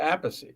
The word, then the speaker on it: Appice: my parents say Appice. Okay. Yeah. Well, they're not alive anymore, but my father said Appice, so my mother said Appice. And Carmine actually used to say Appice.